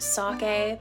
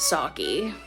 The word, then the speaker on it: sake: So yes, I know this is pronounced sake, but we hillbillies like to call it sake.